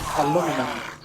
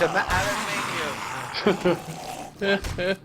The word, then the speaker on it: aluminium: Yeah, but Razor says aluminum instead of aluminium. It's aluminium.